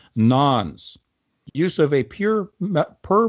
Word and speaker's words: nonce: of a per message nons again spelt non-0 pronounced nonce use of a pure per message nons in